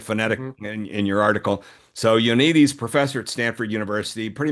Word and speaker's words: Ioannidis: Am I getting that right in the pronunciation? You had it phonetic in your article. So Ioannidis, professor at Stanford University, pretty much of epidemiology